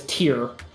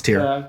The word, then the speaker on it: Tyr: of sacrifice yes okay tyr is how it's spelled I know how it's spelled I know what God it's tear I know what we're